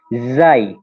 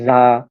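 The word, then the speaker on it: زاي: এবং এই হরফটা যেটা আমাদের এই যার উচ্চারণ হচ্ছে জাই। হুম, জাই, এর উচ্চারণটা হচ্ছে জাই। হুম, অনেকটা বাংলাদেশে উচ্চারণ সাধারণত করে ঝা, যা, এরকম।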